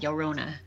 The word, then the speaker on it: Llorona: You pronounce it like a Y, Llorona.